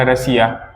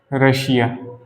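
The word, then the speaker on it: Russia: Example में क्या हो जाएगा हमारा, जैसे मैंने कहा रसिया। ठीक है, रशिया। रशिया एक देश है, एक देश का नाम, एक देश लिख रहा हूँ बस। रशिया क्या है?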